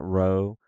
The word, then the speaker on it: rho: simple motion like that rho rho right the road looks like a p but it's an R sound row row row Sigma